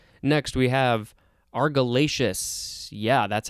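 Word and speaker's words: argillaceous: pretty damn good all right next we have argyllacious yeah that's how it's pronounced a-r-g-i-l-l-a-c-e-o-u-s this is an adjective from circa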